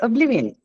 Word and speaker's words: oblivion: short yes yes uh you don't say Oblivion it's Oblivion it's a short V okay so uh see